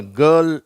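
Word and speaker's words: girl: ஜிஐ ஆர் எல் இத வந்து நம்ம கேர்ல் அப்படின்னு உச்சரிக்கிறோம். இந்த ஆர் எல் அதற்கு முன்னாடி உள்ள வவ்வல் எழுத்தோட சேர்ந்து அதாவது உயிரெழுத்தோட சேர்ந்து அப்படிங்கிற ஒரு உச்சரிப்பை கொடுக்கிறது. அதனால இத எப்படி நம்ம உச்சரிக்கணும் கேர்ல் அதே மாதிரி இந்த வார்த்தை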